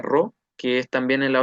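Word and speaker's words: ρ: Entonces, al final, bueno, acá dejé esta P que se pronuncia RO, que es también en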